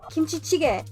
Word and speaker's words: kimchi jjigae: And how do you pronounce this properly? Kimchi? Kimchi jjigae.